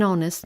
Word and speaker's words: honest: If it's silent, then use an. An hour. An honest man.